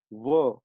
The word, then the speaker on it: one: But then, if you see the word one is pronounced as ver. Ver is V. V is a consonant sound.